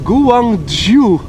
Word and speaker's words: Guangzhou: Bas says, Loco says it's pronounced Guangzhou.